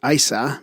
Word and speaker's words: Isa: possibly Scandinavia or gothic in these languages the name is pronounced Isa meaning ice or water in its most Ive